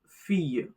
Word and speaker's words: fille: Notice the double L is silent. La fille, the girl.